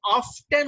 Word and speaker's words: often: এই যে এখানে একটা ওয়ার্ড আছে অফেন, এই অফেন শব্দটাকে কেউ যদি অফটেন উচ্চারণ করে তাও শুদ্ধ, ঠিক আছে?